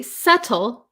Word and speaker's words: subtle: In American English, this T becomes a flap T. So a flap T is when um it comes the T comes between a vowel sound and usually another vowel sound or we have the the dark L sound.